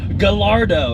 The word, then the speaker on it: Gallardo: It's Gallardo." It's like, no. It's not Gallardo.